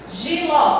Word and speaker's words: jiló: que é acentuada é uma palavra oxítona acentuada jiló é melhor bom Ó então eu tenho que acentuar a última sílaba aqui cada prova termina com ó por esse está acentuada